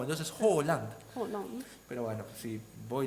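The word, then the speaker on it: Haaland: de Ello escuché dice está mal pronunciado porque Halan se escribe con 2 a y claro, entonces como las 2 a y tanto la A con el circulito arriba se produce como una o.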